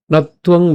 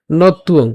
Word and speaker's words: নত্বং: তা আমরা যদি আবার প্রথম থেকে বলি, শ্রী ভগবান উবাচ বহুনি মে ব্যতীতানি জন্মানি তব চার্জুন তান্যহং বেদ সর্বাণি নত্বং বেত্থ পরন্তপ।